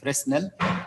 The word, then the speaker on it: Fresnel: By the way, some people read here Fresnel as Fresnel. The S is silent, it's not pronounced.